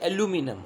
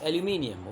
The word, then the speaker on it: aluminium: Okay, in American accent they say aluminum. Okay, but we don't speak the American accent, we speak the neutral we use the British pronunciation, that's why it's aluminium.